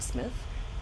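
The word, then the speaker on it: Psmith: smith books which are spelled p smith but pronounced smith or jeeves in worcester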